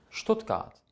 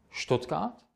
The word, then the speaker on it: Stuttgart: S und T zusammen wird in über 90% der Fälle in der deutschen Sprache als Scht ausgesprochen. Das heißt, im Deutschen habt ihr nicht SCHT, es reicht ST. Und das ist dann Scht.